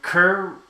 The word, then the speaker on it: Kerr: in case you're wondering Kerr rhymes with fur so Kerr is